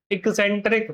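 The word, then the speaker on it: eccentric: इक्सेंट्रिक क्या होगा ये? एक्सेंट्रिक या फिर इसेंट्रिक? What could be the pronunciation? Any idea? No idea sir ji, only Vodafone. चलो, इसको बोला जाता है एक्सेंट्रिक।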